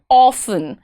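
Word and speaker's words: often: अ लॉट of time people call it ऑफन। इट्स नॉट ऑफन इट्स ऑफ़न। ऑफन। यह हम British follow करते हैं और उसमें प्रॉपर्ली ऑफन ही बोला जाता है।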